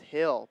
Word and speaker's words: Gil: Gill, pronounced Hill, Pablo Hill, also staying on the pitch, as well as Castorino.